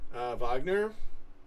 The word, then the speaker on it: Wagner: touching tubes I know vogner or Wagner how have you pronounced it I think it's vogner like the composer that everybody hates Huddersfield manager was with